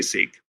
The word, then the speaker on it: Sikh: And so yeah sik is the correct pronunciation. People understand you if you say seek.